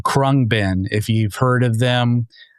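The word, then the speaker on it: Khruangbin: Um but the band is called Kungbin.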